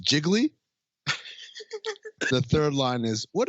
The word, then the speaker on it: Gigli: uh second line was it's pronounced jiggly the third line is